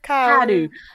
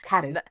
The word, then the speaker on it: Kaoru: I love Kaoru. See, now the way that it's spelled is nothing like the way it's said.